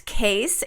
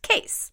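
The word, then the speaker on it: Kees: name case in its k EES right its case and they do our social media management their name is spelled ke es case alright case well thanks for being around and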